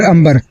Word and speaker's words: अंबर: इसका रियल नाम है सर अंबर। आमेर अंबर। अंबर।